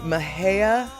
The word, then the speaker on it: Mexia: Okay, Mahea. Oh, that's how you pronounce Mexia, is Mahea.